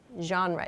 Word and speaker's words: genre: artists or to talk about your favorite genre genre is the pronunciation of this word okay so let's move